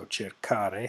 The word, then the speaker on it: cercare: So cercare has a hard C sound there. It's a hard, like a K in English, and to conserve that you have to add an H.